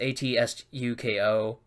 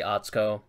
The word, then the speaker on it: Atsuko: I think you say Atsuko so you pronounce it like Oh TSU ko but again I think you you've removed or you know you omit the you so you just say Atsuko and same thing with